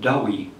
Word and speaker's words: Douay: sous le nom de Douay Bible. Bon, ça s'écrit D-O-U-A-Y, mais c'est le nom de la ville de Douai, dans le nord de la France.